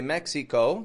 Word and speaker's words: Mexico: them down real quick Mex Mexico that I in the middle is awah now I know Spanish speakers will say Mexico that's not a problem